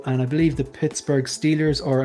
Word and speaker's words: Steelers: I believe the Pittsburgh Steelers, or I think the correct way of pronouncing it is the Stillers. How about them Stillers? I think that's the Stillers. That's the way they pronounce them.